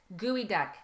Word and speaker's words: geoduck: Gooey duck. Gooey duck. But it's Gooey not duck. spelled like that. It's spelled like geoduck. It's GEODUCK, but it's actually gooey duck.